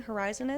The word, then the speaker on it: Horizen: Horizen is. It's Horizen, like Zen, finder Zen.